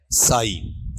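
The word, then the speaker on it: sigh: इसका उच्चारण देख लेना, उच्चारण क्या है? साई, ठीक है। एक तरीके से जी भी साइलेंट है और एच भी क्या है आपका? साइलेंट है इसमें, ठीक है।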